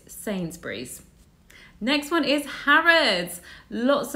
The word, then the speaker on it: Sainsbury's: I've heard this said all different ways, but it's Sainsbury's.